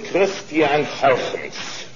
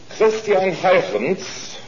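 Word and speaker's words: Christiaan Huygens: I'm going to pronounce it the way he did.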